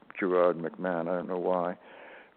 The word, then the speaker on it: Gerard: So, in England it's pronounced Gerard.